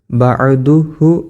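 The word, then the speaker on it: بعده: ഇതിദാൽ അപ് ആദാലിൽ റബ്ബനൽഹംദുമി ശരിക്കും ഹ ഉണ്ട് അവിടെ നമ്മൾ ചൊല്ലുമ്പോൾ ശരിക്ക് ശ്രദ്ധിക്കൂല്ലെങ്കിലും ആര് ചിലപ്പോ എന് ചെയ്തില്ല പറഞ്ഞുതരൂല്ല ബദുഹു എന്നാണ് ശരിക്കും ഉണ്ടാവല അപ്പോ ബദു അങ്ങനെയാണ് നമ്മൾ എന്ത് ചെയ്യേണ്ടത് വക്കഫ് ചെയ്യേണ്ടത് നിർത്തേണ്ടത് ബദു ഒരു ഹിന്റെ ഒരു ഉച്ചാരണം ഉണ്ടായിക്കോട്ടെ അതിനുശേഷം അടുത്ത കർമ്മമാണ് സുജൂദ്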